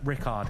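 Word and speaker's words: Richárd: match between Rickard reports I call Richard I call him I call him Richie that's his nickname Richie as well I don't know but Rickard is the correct pronunciation he's playing against Duda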